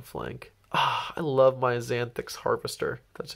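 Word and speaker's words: Xanthyx: Ah, I love my Xanthix Harvester. That's how you pronounce it.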